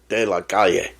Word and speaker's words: De La Calle: De La Calle.